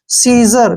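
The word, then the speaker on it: scissor: इसका उच्चारण कैसे करेंगे सी को छोड़ देंगे एस आई से हो गया सी और डबल एस का उच्चारण ज हो जाएगा ओ आर को र सीजर क्या पढ़ेंगे सीजर ऐसे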